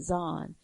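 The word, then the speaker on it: Xon: And the spelling of it is X-O-N, and it's pronounced Zahn.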